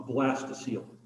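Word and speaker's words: blastocoel: Okay, so this is one of those words that has kind of a funny pronunciation when you look at how it's spelled.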